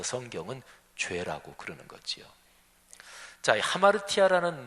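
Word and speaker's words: ἁμαρτία: 왜곡 그게 웅크리고 있다는 거지요 죄라는 단어가요 헬라어로 하마르티아 이렇게 발음합니다 근데 원래 그 단어에 어의적인 뜻이 과녁에서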